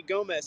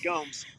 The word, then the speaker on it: Gomes: Everybody else calls me Gomez sometimes, but no, it's Gomes.